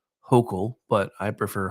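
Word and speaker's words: Hochul: announce that she is filing charges against Kathy hoel and I'm sorry I know it's supposed to be pronounced hok but I prefer hoel because then I can call her Kathy which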